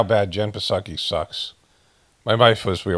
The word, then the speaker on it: Psaki: have to Wait, I forgot how bad Jen Psaki sucks. My wife was we were walking around. She goes, "You know, it's Jen Psaki, right?"